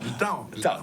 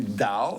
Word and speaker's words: Tao: Alors, Tao, T-A-O, alors qui se prononce aussi Dao, T-A-O, dépendamment de l'endroit où on est en Chine ou bien l'accent qu'on a.